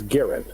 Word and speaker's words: Garand: Garand, he's a Canadian. Okay, Gar. So the pronunciation from the family is Garin.